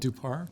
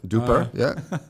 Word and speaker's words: Dhupar: So you can always find me on LinkedIn, Dhupar, right there. So, last name Dhupar. Got to pronounce it Dhupar, so not Dhupar. Yeah, Dhupar, Spell it all out.